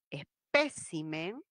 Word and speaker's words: espécimen: de nds de vocal la palabra es espécimen tildada por esdrújula y líbido líbido amoratado